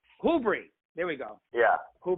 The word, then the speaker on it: Whobrey: That's how you say it, right? Whobrey or Whobrey? We actually say it Whobrey. Whobrey.